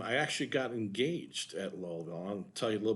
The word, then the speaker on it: Louisville: you have indiana and louisville and it's not pronounced louisville and it's not pronounced lewisville if you talk to most of the locals they will tell you lowellville and i know that because i lived in